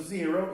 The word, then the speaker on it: zero: O número 0, nós temos duas pronúncias. A gente pode falar zero ou podemos falar O, tá? Em alguns lugares do mundo a gente ouve muito zero e em outros locais a gente ouve O, tá bom?